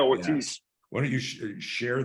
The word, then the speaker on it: Ortiz: Am I pronouncing his last name right? Is it Ortiz or Ortiz? Ortiz. Yeah, Ortiz.